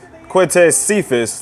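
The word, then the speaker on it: Quintez Cephus: But Stafford launches a bomb to Quintez Cephas. That's how you pronounce the name.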